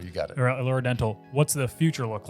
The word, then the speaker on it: Allure Dental: Allure Dental, you got it. Allure Dental.